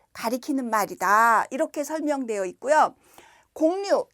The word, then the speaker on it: 곡류: 말이다 이렇게 설명되어 있고요 공류 요거는 발음을 요렇게 합니다 공류음 공류 이렇게 발음하는데 공유를 사전에서 찾으면 쌀